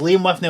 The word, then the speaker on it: Liam Whitney: It's Liam Whitney.